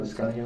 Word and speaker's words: Liscano: How do you say it, Liscano?